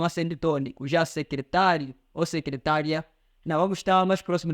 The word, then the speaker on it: secretária: diferente e mais rápido, porque o acento tônico fez diferença nas duas. Vamos dizer que outra coisa é secretária, outra coisa é secretaria.